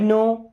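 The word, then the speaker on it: know: आई नो everything about you. आई I means होता है मैं। नो। अब इस नो वर्ड में दोस्तों के और डब्ल्यू साइलेंट होते हैं।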